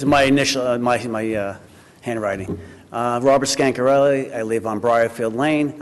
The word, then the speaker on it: Scancarelli: Robert Scar Casarella? Oh, say that, come on. Scancarelli. Oh, okay. Hey, Robert I'm pronouncing an R, not an N. Yeah. You're an N. It's my initial, my handwriting. Robert Scancarelli.